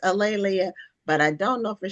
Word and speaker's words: A'Lelia: And my name is pronounced Alelia. And one easy way to remember it is that it rhymes with Amelia or Ophelia. There you go. Or Aurelia, but it's Alelia.